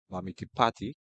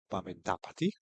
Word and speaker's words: Mamitapati: Now we have the tandem of Shah and Mamiti Pati. Mamiti Dap. Mamiti, let me get it correct. Mamitapati. That's the correct pronunciation.